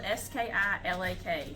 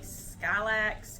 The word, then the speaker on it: Skilak: I'm pronouncing it right it's spelled s-k-i-l-a-k skylax skilak Lake Road now before you decide oh